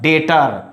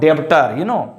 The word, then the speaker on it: debtor: So next word, dater, not debtor, here is dater.